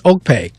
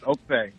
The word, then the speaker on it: Okpe: All right, so now how do you say it? Okpe. I like to make sure I get all of them right. It's Okpe. Yes, Okpe. Okay, so it's Dr.